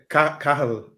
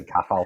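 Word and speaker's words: Cathal: It's Kafel Heffernan. Oh, Kafel. Sorry. Yeah. I'd say Kafel. It's one of those Irish names. Sounds like you say Cattle Heffernan.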